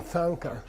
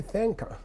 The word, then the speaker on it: thangka: like a Sanka Tibetan thangka that the th is to indicate second column it's not to sound you don't say thank her you know and everyone